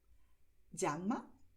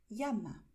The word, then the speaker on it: llama: este otro animal, que en español puedes pronunciar llama, como cuando en inglés dices jeans, llama, o también puedes pronunciar llama, como si fuese una letra I.